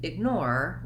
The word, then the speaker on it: ignore: in the word ignore we have second syllable stress so this may be part of the challenge for you in pronouncing this word that you have to do the length on the nor syllable and the egg syllable is light and short you can see that